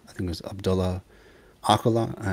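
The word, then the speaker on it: Öcalan: think it was abdullah aquila it's ajlan ajlan that's how it's supposed to be pronounced he was in prison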